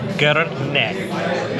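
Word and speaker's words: грне: I got it right it's called G neck so it phonetically if you were to spell out cuz Macedonian just like Greek in a lot of Eastern um you know Eastern European cultures their alphabet's different um but if you were to spell it out it would be g r n e and G actually means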